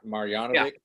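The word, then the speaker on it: Marjanović: Marjanovic.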